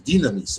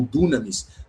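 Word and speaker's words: δύναμις: da nossa palavra dinamite, dinamis ou dunamis, dependendo da tua pronúncia, mas a ideia é um é um y, né? I, esse som i dinamis com poder.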